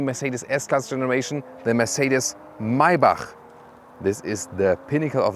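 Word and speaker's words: Maybach: s-class segment and mybach listen and repeat maibach not my buck because the germans they have this ch as so and the ultimate german pronunciation would be mercedes maiba that's it so now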